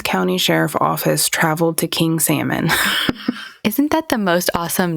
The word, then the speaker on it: King Salmon: I heard somebody pronounce it King Salman. I'm like, I don't think that's how that goes. If it's in Alaska, it's salmon. You darn well know it is.